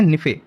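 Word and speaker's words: NiFe: उसको क्या बोलते हैं तो इसको बोलते है निफे ठीक है एन आई एफ ई और यह जो आपको स्पेलिंग लग रही है दो तत्वों से मिलकर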